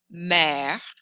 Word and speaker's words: mère: Accent grave sounds like eh, like the word jet. This is the word for mom, mommy, mother. Mère, mère.